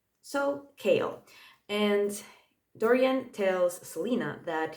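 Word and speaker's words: Chaol: the royal guard and he's called kale it's like chaos but with an L instead of an S at the end and Google told me that I'm supposed to pronounce it as kale so kale and Dorian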